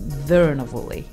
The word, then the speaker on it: Curuenavuli: learn this it's it's it's spelt see you are you eatin a V you Ally but it's pronounced Verna wooly are not interesting did